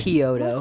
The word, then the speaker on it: Chiodo: Kyoto.